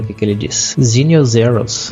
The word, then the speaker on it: Xenial: O nome dele vai ser Xenial ou Zenial, agora não sei, né? Deve ser Zenial Zeros, já que o X a versão 1604, né?